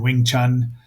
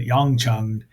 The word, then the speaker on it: Wing Chun: The movie was also called Hung Kyun and Wing Chun, although they keep pronouncing it Yong Chung in the English dub.